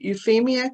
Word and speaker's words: Euphemia: And then Chris, is it Euphemia, Chris? How do we? Yes. Okay, I wanted to pronounce Euphemia.